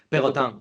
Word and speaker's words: Perrotin: Bueno, ¿cómo se 2 años, pronuncia en francés Perrotin? ¿Perrotin? ¿Perrotin? Perrotin, Perrotin. Pegotan, ok.